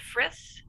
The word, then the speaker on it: Fritz: pronouncing the name correctly is it fritz is that correct that's correct that's correct awesome all